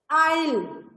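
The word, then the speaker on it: aisle: ऐसे ही देखिए K silent और इसमें हु में W साइलेंट और फिर एंड S silent is आइल. S को हटा दीजिए तो आइल ही रीड करेंगे हम.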